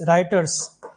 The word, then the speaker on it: Reuters: Spelling ये है देखो, REUTERS, राइटर्स।